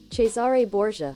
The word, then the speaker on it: Cesare Borgia: and look it up let's go and look up pronunciation and see how it's actually supposed to be pronounced chesar bour okay so CH chesar let's hear it again chesar bour chesar chesar chesar chesar bour right chesar bour yeah chesar chaar chesar ches chesar so it's not chesar either it's chesar okay so I don't